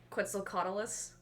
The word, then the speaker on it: Quetzalcoatlus: I don't know how to pronounce it. Try. Quetzalcoatlus.